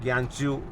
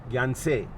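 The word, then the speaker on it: Gyantse: कुछ जो है य ज्ञानसू या जनसे कई लोग ज्ञान से प्रोनाउंस करते हैं कई लोग जनस प्रोनाउंस करते हैं उससे लासा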